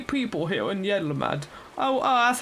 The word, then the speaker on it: Yedlamad: Please try peddling my fish to, shall we say, 3 people here in Yedlamad. Oh, that's how you say it, isn't it? I just said it randomly, Yedlamad.